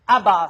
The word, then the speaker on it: Abbas: Abbas, c'était exactement la bonne prononciation, succédant Yasser Arafat, donc une pénalité également pour Collège Saint-Charles-Garnier.